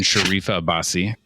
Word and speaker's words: Sharifa Abbasi: And Sharifa Abbasi. Yes. Saying that right too? Yes.